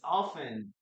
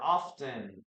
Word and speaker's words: often: Liquid salt is often or often depending on what kind of English or accent do you have in this case often. I always I prefer to say often but you will also listen to this word as often. often or often especially in British English often.